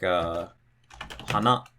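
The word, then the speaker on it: 花: Or maybe it drops after the second syllable, like hana.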